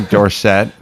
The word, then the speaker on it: Dorsett: goal line all right the power eye tony dorsett or dorset shackle always tell you pronounce it differently all right let's uh the